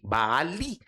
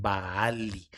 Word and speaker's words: Baali: Cuando terminan las los vocáblos hebreos en i, en lo que nosotros pronunciamos como i, Baali, es mi.